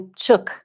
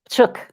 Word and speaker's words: Psiuk: Psiuk. Psiuk.